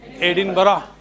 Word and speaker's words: Edinburgh: Unless someone tells you how it is pronounced, it is pronounced Edinburgh. Yes. It is pronounced Edinburgh.